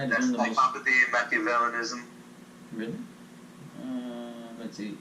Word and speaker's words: Machiavellianism: How'd you pronounce it? Machiavellianism.